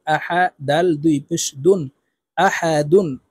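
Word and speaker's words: أحد: আ হা জবর হা আহা দাল দুই পেশ দুন আহাদুন দালকে ওয়াকফুর ক্ষেত্রে সাকিন করে ফেলবো দাল যেহেতু কলকলার হরফ নিচের দিকে ধাবিত করে ধাক্কা দিয়ে উচ্চারণ করব আহাদে আহাদে কুফুয়ান আহাদে ওয়ালাম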